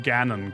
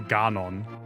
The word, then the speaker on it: Ganon: Which is funny because I'm pretty sure we pronounced Ganon correctly, but we didn't pronounce Hyrule correctly. Which is the exact opposite way that the German dub of Breath of the Wild did it. They pronounce Hyrule correctly, but not Ganon, which is weird. They say Ganon.